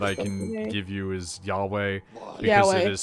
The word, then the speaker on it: Yahweh: closest pronunciation that i can give you is yahweh yes it is spelled as a uh it's like the tetro